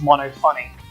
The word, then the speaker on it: Monofani: I think it's supposed to be pronounced mono funny.